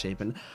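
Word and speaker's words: Chapin: announced him is Cliff so it is pronounced shapen I just want to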